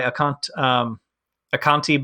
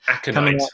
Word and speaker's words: Aconite: There's a KeyForge anthology coming out by Aconti Books. I'm not sure how to say it. Aconite, I believe.